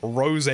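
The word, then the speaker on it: Rosé: amazing not to mention the name Rose with a little Accent on the E oh okay okay uncultured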